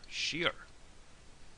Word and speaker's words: siar: She s i a r. Shear.